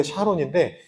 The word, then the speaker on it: 샤론: 유일하게 곡식이 많이 나는잖아요 사론이라는 말은 잘못 발음하고 있는게 아니고 원래 샤론인데 여기서는 원어가 사론이라고 적혀 있어서 어쨌든이 갈매라고 사로는 아주